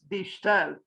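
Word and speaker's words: De Stijl: I checked the pronunciation. It's something like this, die Stel, and the new objectivists.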